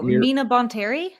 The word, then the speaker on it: Mina Bonteri: is when Ahsoka joins I'm gonna say her name wrong, Mira Aaron, help me. The Separatist planet, or Matthew, someone help me. Oh, Mina Bonteri? Thank you. Say it again. Mina Bontarian.